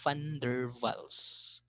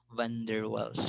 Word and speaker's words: Van der Waals: So ganun siya binabanggit, yung tamang pronunciation is a Van der Waals. Okay, hindi siya Van der Waals forces.